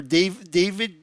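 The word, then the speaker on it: Da5id: I'm not sure how to say this, but Dave 5 did, or David, spelled D-A, the number 5, V-I-D, hacker, and the leader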